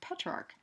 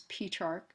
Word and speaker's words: Petrarch: And it's for that reason, too, that Petrarch, sometimes you'll hear his name pronounced as Petrarch. It's kind of tomato, but I say Petrarch.